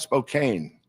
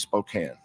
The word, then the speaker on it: Spokane: It's and it's not Spokane and it's not Gonzaga. It's Gonzaga and it's Spokane.